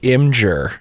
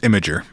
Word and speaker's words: Imgur: In November of 2013 on the website Imgur, is it pronounced Imgur or is it Imgur? It's Imgur. It is Imgur.